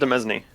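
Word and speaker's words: demesne: the men's comments oh domesni it's one of those words that i've read but not see yeah same actually i'm assuming no it's pronounced amezny i've heard it i've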